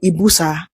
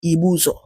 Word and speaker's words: Ibuzo: The name Ibuza came from a colonial mispronunciation of the Igbo name Ibuzo.